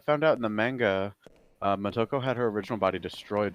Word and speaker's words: Motoko: Motoko. Wait, Motoko. It's M-O-T, right? Not M-O-K.